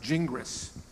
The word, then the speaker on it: Gingras: big debate okay so in English-speaking countries it's best pronounced jingris however I had to